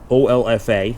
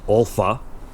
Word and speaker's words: OLFA: So, we're going to be looking at something specific today from OFFA. I guess you can pronounce it Ula.